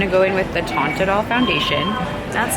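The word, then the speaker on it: Teint Idole: I'm going to go in with the Tint Idol foundation.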